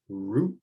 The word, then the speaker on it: root: sound so in this the o o makes the same sound as the u it's going to sound like ooh so here we have root versus ruth you want